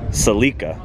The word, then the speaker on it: Celica: question for you guys sometimes people get on to me for saying Celica I've had many people comment say that's not how you pronounce it you pronounce it salika now how do you